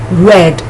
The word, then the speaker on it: read: The past tense form is pronounced like the color rojo, red, R-E-D.